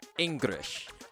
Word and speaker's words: Engrish: English spelt with an R instead of an L. Why? Because Japanese doesn't have an L sound, so Japanese people often pronounce English words that have the letter L as if those words had an R instead.